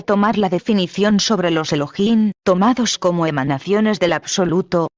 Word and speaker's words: Elohim: un final masculino pluralizado la H tiene sonido se pronuncia como J de manera que su pronunciación exacta es Elohim si la palabra Elohim